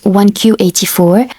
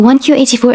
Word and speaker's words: 1Q84: Murakami's 1Q84. Now I'm going to explain to you the title why it's 1Q84. In Japanese the number 9 is pronounced as Q.